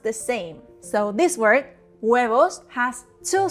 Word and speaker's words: huevos: Remember that the Spanish H is silent and that the V is pronounced like a soft B.